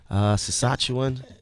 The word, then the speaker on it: Saskatchewan: Vancouver, Montreal, how you pronounce it? Saskatchewan.